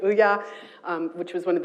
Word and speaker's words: Ouya: Ouya, am I pronouncing it right? Ouya.